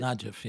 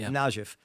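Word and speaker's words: Najaf: Shia population of southern Lebanon has been tied for century to the Shia leadership in Najif. Is that how you pronounce it? Najif Najif Iraq rather than Iran where the Hashemites were the Hashemites to control Iraq.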